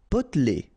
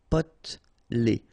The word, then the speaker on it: Potelé: Potelé. Okay, here you don't really pronounce this E. Potelé.